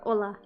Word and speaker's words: hola: Yeah, only an H before hola. But it's it's not even pronounced. So I don't even know why it's there. Honestly, it's there just for show.